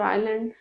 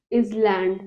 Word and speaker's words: island: the beach Coast or Island this is not an is land this s is silent Island on the platform on